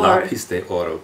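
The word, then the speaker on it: Lápiz de Oro: um lais de or lais deoro please pronounce properly lais yeah it means golden pencil okay Argentina's highest advertising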